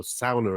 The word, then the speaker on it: bastu: This particular track, Bara Bara Bastu, that you just played there, is actually a song all about sauna, or sauna, as I believe they pronounce it there.